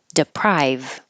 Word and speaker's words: deprive: needed the I is it should sound like I deprive so just remember that's